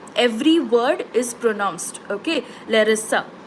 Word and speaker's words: Larisa: ಸೊ for example ನನ್ನ ಹೆಸರು ಲೆರಿಸಾ, LARISA. Every word is pronounced. Okay, ಲೆರಿಸಾ.